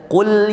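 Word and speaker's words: قُلْ: Kalau kita bilang kul huwallahu ahad, makanlah Allah yang esa, itu bahaya Pak. Maka cara bacanya kul huwallahu ahad, Qul ya ayyuhal kafirun.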